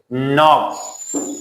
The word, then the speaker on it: knock: knock, تک کردن.